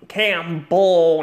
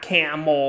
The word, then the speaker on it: Campbell: if anyone think pronounce Mr cam cam bu not camell like you know hump and all that we speaking of